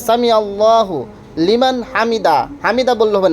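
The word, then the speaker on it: حمده: এরপরে সামি আল্লাহু লিমান হামিদা, রুকু থেকে ওঠার সময় তে সামি আল্লাহু লিমান হামিদা, হামিদা বললে হবে না, হামিদাহ হা উচ্চারণ করতে হবে।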